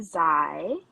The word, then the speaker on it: Zai: thank you for having me my name is z pronounce Heim I occasionally with a they and I'm